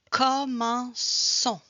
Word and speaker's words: commençons: Commençons. Is the city, we put it in front of the vowel. So here is the O. So I put it when I want to have a double S sound.